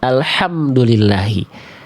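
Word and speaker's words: الحمد لله: Alhamdulillahi. Segala puji bagi Allah. H kecil. Segala puji bagi Allah. Alhamdulillahi. Pakai H besar. Alhamdulillahi. Segala kebinasaan bagi Allah. Bunda mau muji Allah mau gimana itu Bunda? Nauzubillah tumma. Nauzubillah. Iya. Beda ha dan ha doang ya.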